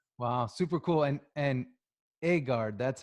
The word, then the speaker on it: Egard: super cool and and agard that's how you that's how you pronounce it right well it's it's a french word it's so it's egal is the right way but we call it edgar yeah edgard watches um